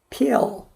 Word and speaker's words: pill: 그래서 bill, heal, pill 이거 필 아니에요. pill.